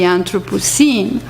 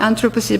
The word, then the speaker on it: Anthropocene: Century Film, Selmin Kara, she uses the term anthropocinema written with the E, not but the I, Anthropocene, but you pronounce at the same time.